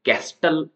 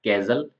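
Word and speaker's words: castle: होता है किला और कैजल के अंदर टी साइलेंट कस्टल ऐसा नहीं बोला जाएगा कैजल कैजल बोला जाएगा इसको इसका मतलब होता है किला यहां पर टी साइलेंट है नेक्स्ट है यू साइलेंट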